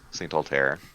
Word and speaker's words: Altair: Saint Altair. Like a star.